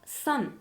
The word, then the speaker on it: 山: 音読みは 3。